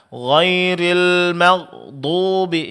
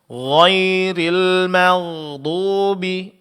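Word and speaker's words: غير المغضوب: Namun ada sedikit pengucapan huruf gin sukun di sini. Suara jangan terputus dan jangan terlalu ditekan ya, Pak ya. Karena huruf ghain sifatnya ada rakhawa, yaitu pengucapan huruf yang disertai suara terlepas.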